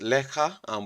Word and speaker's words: lekker: But how it's pronounced, lekker, which is L-I-C-K-E-R, it's completely different because the R is different as well.